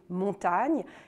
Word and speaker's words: Montaigne: les périgourdins et que le nom de montaigne lui-même qui est aussi le nom du domaine et du village s'est longtemps orthographié est surtout prononcée montagne est ce qu'on peut